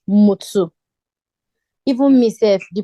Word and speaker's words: Mutu: like how it's pronounced I think you said move to right um it's pronounced mutsu even myself the pronunciation